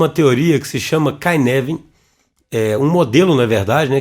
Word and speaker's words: Cynefin: cada vez mais notoriedade, que se escreve Cynefin, mas fala Cynefin, não é isso, Vinícius?